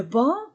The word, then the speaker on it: banc: Ban est brun le banc et je ne prononce pas le C le banc est brun